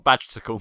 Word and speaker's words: Badgersicle: Badgersicle.